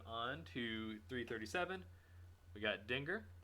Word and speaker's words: Dengar: to 337 we got dinger or dengar it's probably more accurately how you pronounce it dengar really cool looking character